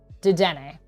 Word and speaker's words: Dedenne: Dedenne.